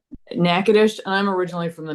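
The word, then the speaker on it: Natchitoches: that for me okay Rebecca what is it nadish what is it nackadish and I'm originally from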